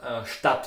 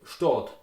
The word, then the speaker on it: Stadt: If you look at the word Stadt, for example, Stadt with A, in Austria you will pronounce it Stadt with O.